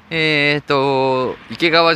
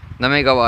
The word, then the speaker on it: 行川: 池川じゃないですよ、なめがわアイランドと読みますね。なめがわアイラン